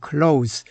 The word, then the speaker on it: close: Close 친밀한 밀접한 그런데이 단어가 발음이 달라지면 동사가 되면 발음이 달라지는데 close라고 발음이 되면 문을 닿다 또는 잠그다 하는 뜻입니다. 본문에서는 close relation 친밀한 관계가 되지요.